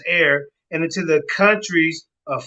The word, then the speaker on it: Aer: Along the way, the city is called Air, spelled Aer, but it's pronounced Air, and into the countries